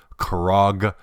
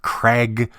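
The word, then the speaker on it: Krag: were putting it together you say kog Jorgensen I read somewhere that the reason why the pronunciation became became Craig in the US was because of a song at the time which rhymed that word with flag harder I suppose to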